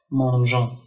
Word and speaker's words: mangeons: Mangeons. Donc, on a intercalé le E entre le G et la voyelle. Donc, le E ne se prononce pas, mais il est là pour obtenir toujours le son J.